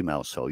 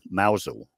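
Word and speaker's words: Mousehole: on the coast called well it's spelled mouse hole but you don't say mous hole you say or the locals say mousel and then I was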